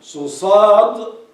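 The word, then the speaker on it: ص: sad, you make it full.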